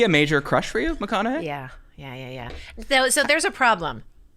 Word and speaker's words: McConaughey: Is he a major crush for you, McConaughey?